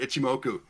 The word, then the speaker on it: Ichimoku: my indicator like and I think it's pronounced ichimoku so I'm not sure if that one's available but I hopefully I didn't I didn't butcher that one no you got it right ichimoku and some of the names of many technical